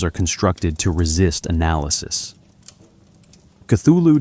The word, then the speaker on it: Cthulhu: Cthulhu does not obey English phenology. Lovecraft admitted as much. In a 1934 letter, he explained that the proper pronunciation was closer to kulu, a sound unachievable by the human vocal apparatus.